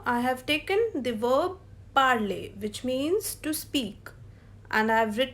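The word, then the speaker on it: parlent: In the conjugation of il, elle plural, we will pronounce it as parle, not parlons, because all the endings which have ENT, they will be pronounced till E only.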